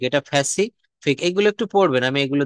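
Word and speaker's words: Pacific: তারপর হচ্ছে প্যাসিফিক, এটা ফ্যাসিফিক।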